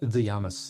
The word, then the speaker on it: Dougiamas: It's Dougiamas in Greek, which is because the delta, and so it got changed to a D and it's transliterated, so it's not quite the same.